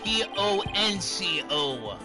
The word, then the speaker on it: Ponco: pronounce her name Edgeworth it's p o n c o ponco I would be said